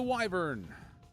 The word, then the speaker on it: wyvern: got everything else to the wyvern wyver whichever you want whichever you want to pronounce it I've heard both I wish there were